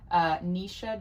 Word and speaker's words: Naoise: Her name, and I looked it up to make sure I pronounced it right because it's Irish, Naoise Dolan.